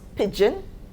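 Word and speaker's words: pidgin: lingua franca pigeon pronounced pigeon the g is the d is silent sorry right the d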